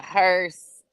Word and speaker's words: hearse: hearse is it a hearse a hearse it's oh my God it is a hearse but it's not spelled like curse no no no it's like h e a r s e or something yes okay